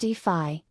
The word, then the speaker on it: DeFi: what is defy defy pronounced d phi is short for decentralized